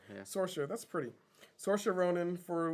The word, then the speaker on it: Saoirse: Is that how it's pronounced? Saoirse, yeah. Saoirse, that's pretty.